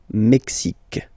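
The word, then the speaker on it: Mexique: Canada mexic mexic mexic it's really the mexic and then remember this Q it's only mexic okay Brazil brail okay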